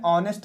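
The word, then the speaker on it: honest: जो हमें पकड़ना है ये जो ह है यहां पर ह जो है ये है साइलेंट ह का हमें प्रनंसीएशन नहीं करना है उच्चारण नहीं करना है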